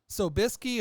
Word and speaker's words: Sobieski: Sobieski, 100% pure rye vodka, distilled in Poland.